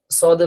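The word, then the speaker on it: ص: তা আমরা আমাদের এখানে মাখরাজের মধ্যে দেখছি যে সদের উচ্চারণটা জিহ্বার আগা সামনের নিচের দুই দাঁতের আগার সঙ্গে লাগবে। এই ঠিক লাল পয়েন্ট যেখানে এখানে লাগবে। উচ্চারণ হবে সদ।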